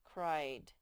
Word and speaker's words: cried: one say i'd cried sometimes the ie spells sometimes i i can friend sometimes i e spells e like in peace but sometimes the ie spells i like in cried this is english cried